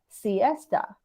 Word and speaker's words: siesta: for 10 hours like 20 hours so this pronunciation is siesta cs yes and yes okay um so and